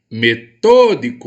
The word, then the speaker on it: metódico: para jogar bola metódico metodico em qual a sílaba mais forte metodico tô tô é minha sílaba a tônica e eu tenho então